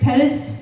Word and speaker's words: Pettis: my name is Pettis rhymes with lettuce spelled differently you can talk about